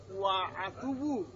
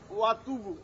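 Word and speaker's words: وأتوب: আমরা যে ওয়া আতুবু, এখানে উচ্চারণটা না ওয়া আতুবু, ওয়া আতুবু, ও আ অজবর ওয়া হামজা জবর আ, ওয়াহিদ মুতাকাল্লিম তাও বস্তু নিজের জন্য, তাই না? যে অনেকে বলে যে ওয়াতুবু, তাহলে এটা ভুল।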